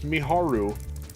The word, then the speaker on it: Miharu: It's Miharu. Miharu. I say it in every video. I mean, it's even just looking at it, you know, it's pronounced the way it looks, the way it's spelled.